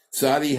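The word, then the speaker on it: צדי: letter excuse me sadi sadi has a TZ sense it Saad D and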